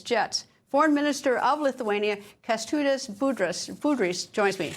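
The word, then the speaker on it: Kęstutis Budrys: Foreign Minister of Lithuania, Kestutis Budrys, joins me.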